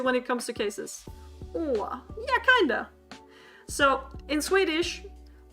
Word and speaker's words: å: So it's oh. Oh. I'm trying to think of a word in English that has a similar sound. Oughta. You oughta do that.